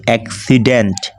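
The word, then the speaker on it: accident: same নিয়েছি সেখানে হচ্ছে কি এইযে এটা কি এক্সিডেন্ট আমি দেখেই পড়ে ফেলতেছি আপনারাও দেখে পড়ে ফেলতে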